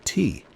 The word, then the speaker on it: Ti: Marshall became B and Bonnie became T. Later they would use other names with Marshall eventually settling on D pronounced like the musical note and T also a musical note.